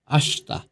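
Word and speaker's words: 明日: আগামীকাল আশতা। আ শি তা। এটা লিখতে গেলে আশিতা হয়, কিন্তু উচ্চারণের সুবিধার্থে সৌন্দর্যের কারণে এটার উচ্চারণ হবে আশতা।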